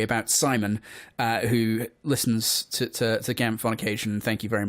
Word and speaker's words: GAMFT: This is GAMFT. Remember, the T is silent.